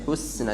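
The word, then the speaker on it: الحسنى: Cara baca husna maju mundur. Wa saddaqa bil hus. Maju maksimal haknya kena berharakat dhammah. Penahanan di huruf sin mundurkan. Hus. Jadi bukan hus. Ada ya, husna, dan itu tidak boleh telat, kadang telat ya.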